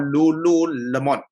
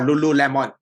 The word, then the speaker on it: Lululemon: So over here, I have this particular company called Lululemon or Lululemon, depending on how you want to pronounce it.